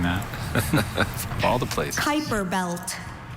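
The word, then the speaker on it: Kuiper belt: Kyper belt. Kyper belt.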